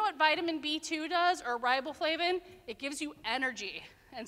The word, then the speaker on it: riboflavin: to clap it out we're going to do riboflavin Nathan okay that four syllables so we're going to do it together on 3 123 riboflavin good it's also known